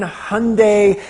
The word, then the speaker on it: Hyundai: we've got a um 2013 hyundai hey i pronounced it right uh hyundai um god